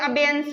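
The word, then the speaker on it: abeyance: अबेयंस को, अबेयंस को relate करोगे रिलायंस से। रिलायंस कंपनी का नाम सुना है सबने? येंस और रिलायंस सेम प्रोनाउंसिएशन है ना, येंस और रिलायंस।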